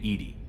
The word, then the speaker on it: EDI: Why are you named EDI? ED is the phonetic pronunciation of EDI.